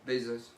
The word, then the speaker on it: Bezos: Bezos.